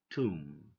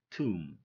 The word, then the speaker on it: tomb: Climb, tomb, tomb, not Tom, tomb, okay?